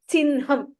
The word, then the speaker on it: चिह्नम्: We don't write it that way. When you transliterate, you still write it as chihnam only. But when you pronounce, you have to pronounce it as chinham. If you want to correct it and write it down for your ease, go ahead and write it down. But this is one unique pronunciation in Sanskrit language.